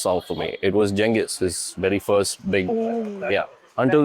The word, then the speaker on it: Genghis: So, Genghis Genghis, how do you pronounce it? Genghis.